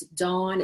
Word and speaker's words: Daun: It's Dawn. It's spelled a little bit strange. It's Daun.